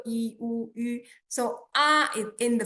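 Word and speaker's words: ü: Okay, there is special sound in Chinese which is yu, and you can say e first, then keep your tone where it is and round your lips to pronounce yu.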